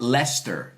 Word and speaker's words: Leicester: Edu says, no, it's like Leicester. Oh, Leicester. Did I say Leicester? You want to laugh? Ask Americans to pronounce British towns.